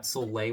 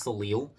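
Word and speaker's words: soleil: who said it that that solay was pronounced soil and it's like that's not who the say soil be so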